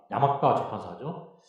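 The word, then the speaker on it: 山川出版社: 그 다음에 두 번째로 고등학교 세계사 B 산천출판사인데 일본 발음 야마가와 출판사죠.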